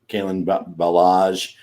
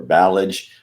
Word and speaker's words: Kalen Ballage: Ballage. Maybe it's the Ballage when he's doing well. Yes, it's like a French dessert, It's Ballage when he's not doing so great.